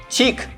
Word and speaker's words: CHiQ: CHiQ is one of the elegant, romantic, and smart brands. The pronunciation is similar to French language chic.